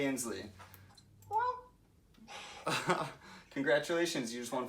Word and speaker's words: Inslee: Governor Jay Inslee from Washington. That is correct, minus your mispronunciation. It's Jay Inslee.